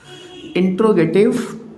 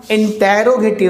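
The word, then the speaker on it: interrogative: और एक चीज़ ध्यान रखिएगा, इंटेरोगेटिव नहीं होता भाई, इंट्रोगेटिव। वो सुना होगा ना वीडियो की स्टार्टिंग में इंट्रो लगाते हैं आप, ये वही तो है इंट्रोगेटिव प्रोनाउंस।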